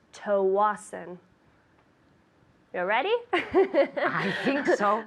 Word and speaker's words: Tsawwassen: I'd like to send a package to Tawasin. Tawasin. That's TSAWWASSEN. Pronounced Tawasin.